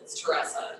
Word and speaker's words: Teresa: And is it Teress? Yeah, it's Teresa is the pronunciation, and you can put, I mean, yeah, You tell me.